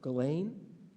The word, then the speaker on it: Ghislaine: For example, she prosecuted, and I never knew how to pronounce her name, but I had to look it up, Ghislaine Maxwell, for sexually abusing minors with a co-conspirator, Jeffrey Epstein.